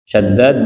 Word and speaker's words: Shaddad: Shaddad bin Aus bi fathis shinil mu'jamati wa tashdidid dal.